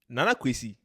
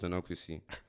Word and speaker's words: Nana-Kwasi: I have a PhD in teaching how to pronounce Nana-Kwasi. So, the last time I was looking for names that are, like, similar to. So, I found.